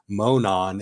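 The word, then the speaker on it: Monon: There's actually a town in Indiana called Monan, Indiana.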